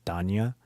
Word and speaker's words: Denia: And obviously it sounds like her name is Denya, but I know in the JP and CN language, and I think KR language as well, that it's pronounced as Danya, like Das Vidanya, Danya.